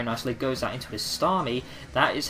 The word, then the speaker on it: Starmie: predicts that very nicely, goes out into his Starmie.